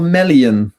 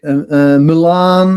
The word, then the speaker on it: Melian: It's it's a Melian. And and Melon is kind of also uh some people say Milan or or a million or and I can totally understand.